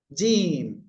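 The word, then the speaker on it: جيم: সবাই খেয়াল করতে হবে এই অক্ষরটা তাই না জিম ঠিক আছে জিবার মধ্যখান তার বরাবর উপরের তালুর সাথে লাগিয়ে তিন আলিফটা নিয়ে উচ্চারণ করতে হবে জিম আপনারা এভাবে কমপক্ষে 10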